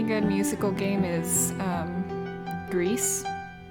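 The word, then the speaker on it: Gris: musical game is um greece i think it should be pronounced grey but apparently it's pronounced greece according to the developers so we finished act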